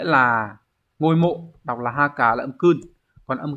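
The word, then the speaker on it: 墓: chữ mộ khác mang nghĩa là ngôi mộ, đọc là haka là âm kun.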